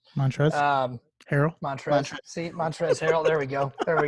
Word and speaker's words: Montrezl Harrell: sweet Lou love that guy I can't ever pronounce his name right Montrell Harris montrezl Harrel montrezl harrell there we go there we go I always